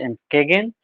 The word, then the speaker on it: Entgegen: This is pronounced as Entgegen, and this Entgegen, though it is written Entgegen, this is also a German word which means opposite.